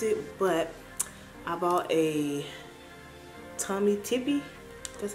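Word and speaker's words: Tommy Tippee: And then I already opened this because I've used it, but I bought a Tommy Tippy.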